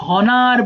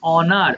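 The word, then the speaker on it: honour: অনার মানে সম্মান করা বাট এটা অনেকে হনার বলে ফেলতে পারো বাট এটা সিম্পলি অনার অনার মানে সম্মান করা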